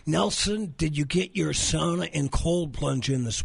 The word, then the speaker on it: sauna: We're taking sauna about 3 or 4 times a week, and it's the best thing for these aching joints. Okay, I know you're not Finnish. It's pronounced sauna. Sauna.